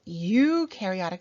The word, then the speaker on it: eukaryotic: here are a couple eukaryotic cells U rhymes with do because eukaryotic cells do have a nucleus so it's all rhyme